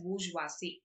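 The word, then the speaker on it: bourgeoisie: And the owner class was called बूजवासी, it's pronounced as बूजवासी, this is the spelling. Okay, so he said that one डे द प्रोलेटारियट will revolt against the बूजवासी.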